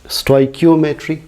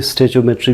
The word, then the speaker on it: stoichiometry: अब देखते हैं इस चैप्टर का लास्ट टॉपिक स्टोइकियोमेट्री, या हम आमतौर पर इसे स्टेचोमेट्री भी प्रोनाउंस करते हैं।